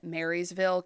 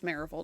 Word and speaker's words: Maryville: made it into modernday I'm sure they pronounce it Maryville Kansas but it's marille to us so um so in